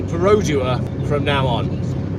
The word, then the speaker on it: Perodua: in Malaysia it's worse it's perodua not what he has been saying I've always called it parua I don't know okay I'm sorry I will make an extra special effort to say perodua from now on it's